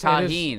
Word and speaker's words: tajine: You used to get mad at me for pronouncing the J in it, didn't you? You used to say it's taheen and now you're saying it. It is taheen.